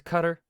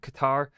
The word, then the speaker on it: Qatar: populated by also like what I understand is cutter but like what why spell it with the a between the T and the r if it's if it's not Qatar like come on you